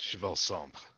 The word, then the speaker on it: Cheval: d-a-v-a-c-h-i then we have cheval sombrero with days going trying to make a bad joke oh okay actually that's chevelle okay it's french ah gotcha let's see